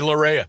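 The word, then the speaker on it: deLarrea: Dailoreia. And it's it's weird because it it's spelled uh lowercase d lowercase e capital l and then lowercase a r r e a.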